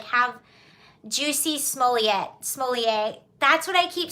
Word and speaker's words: Jussie Smollett: It's like, have Jussie Smollett.